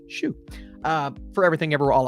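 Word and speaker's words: Hsu: and I believe shoot somebody said shoe earlier that I was pronouncing it wrong I think that's the pronunciation according to uh I think it was her Instagram page it was someone's Instagram page that said it's pronounced shoe uh for everything ever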